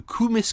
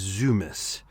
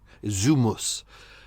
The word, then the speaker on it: Zumis: I had already previously checked that his name wasn't Kumis, it was Zumis. Zumus as it's actually pronounced.